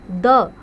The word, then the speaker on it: the: द आ जाए तो इट is pronounce as द rhymes of with शी ठीक है तो इसको हम क्या राइम्स ऑफ शी की तरह से हम इसको प्रोनाउंस करेंगे लाइक दी अब वोल मान लिया